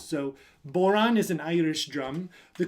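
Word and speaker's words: bodhrán: Irish instrument called a bowline can you say Bowron good rhymes with the word no coincidence just it rhymes so boron is an Irish drum the coolest thing about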